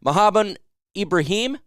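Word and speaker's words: Mohamed Ibrahim: all can rely on him so good there mohabbat Ibrahim that's how you say it Mohammed Ibrahim was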